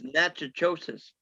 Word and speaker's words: Natchitoches: No, it's Natchitoches. Yeah, Massachusetts. going down to It's spelled Natchitoches.